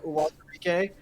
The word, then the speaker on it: Uwazurike: Don Apatow did actually a very good job pronouncing Ayoma oh, Uwazurike.